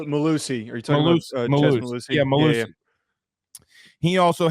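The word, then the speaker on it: Mellusi: Mellis, I think is how you say his last name, if I'm not mistaken. 51 rushes, 307 yards. Malusi. Are you talking about Malusi?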